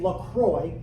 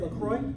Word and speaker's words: LaCroix: To put into context how unusual these moves are, imagine, say, if LaCroix, is that how you guys say it, LaCroix? Yeah? LaCroix, it really should be La Croix, but that's bougie. That's probably how they actually pronounce it, places that speak French.